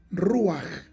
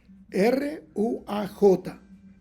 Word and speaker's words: ruaj: Dios en Génesis capítulo 1 verso 2 es ruaj r u a j ru con un acento como ese triángulo invertió